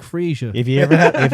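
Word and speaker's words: Fraser: who is loki australian so it's greek freesia is it greek is it is this is how you say it it's greg frisia if you ever have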